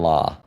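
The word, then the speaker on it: larb: Kevin LD, you should try this humong dish called chicken lob called pronounced chicken law.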